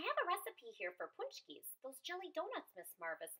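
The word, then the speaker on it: pączki: She shared a Polish tradition of making and eating jelly donuts filled with sweet and savory fillings called punchki, pronounced punchki.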